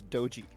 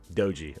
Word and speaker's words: Doji: Is it Doji or Doji? How does it pronounced? It's Doji. Doji.